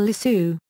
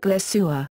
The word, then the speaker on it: LeSueur: MGM publicity head Pete Smith recognized her ability but felt that her name sounded fake. He told studio head Louis B. Mayer that it sounded like LeSueur.